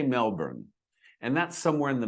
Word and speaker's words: Melbourne: Melbourne. Melbourne. And in Australia, where the city lies, they pro they say it differently than I do, but we say Melbourne. And in Britain, they say Melbourne a little bit longer.